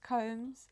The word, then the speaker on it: Combs: I know that he says Combmes, but people still call him Kums.